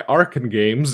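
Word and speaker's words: Arcen Games: It's developed by Arkane Games, and I learned the pronunciation of that from the email I got, because they have A-R-K-E-N in parentheses after the name of the company.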